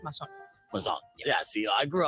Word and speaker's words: Mazon: It's for the gringos is Maison. Yeah, Maison. Actually, there's two. There's the gringo part, the Maisons, and there's also the Mexican from Sonora is Mason.